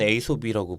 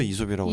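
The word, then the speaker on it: Aesop: 근데 해외에서는 에이솝이라고 부르지 않아요? 거기서 이솝이라 그런가? 해외에서도 이솝이라고 저는 이솝이라고. 네. 그러니까 원체 오리지널 발음이 이솝이 네.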